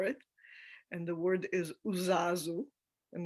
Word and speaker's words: uzazu: new word for it and the word is uzazu and it's spelled u-z-a-z-u and when i first started studying